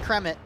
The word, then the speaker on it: Kremit: Yeah, now you're doing what I was doing, calling him Kermit instead of Kremit. It's Kremit. Yeah, it's Kremit. It's Kremit.